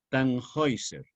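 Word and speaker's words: Tannhäuser: ser que se escribe tan h hauser tan con un doble-doble h hauser con dos puntos en la a de agua que se pronuncia en alemán hoy tan géiser que es al revés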